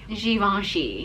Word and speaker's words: Givenchy: Pronounce this one as we well. We got the Givenchy. Givenchy.